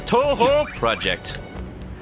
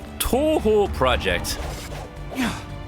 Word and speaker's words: Toho Project: How was the Toho Project? You gotta say it like Toby Fox. Toho Project. That is the only correct way to pronounce it.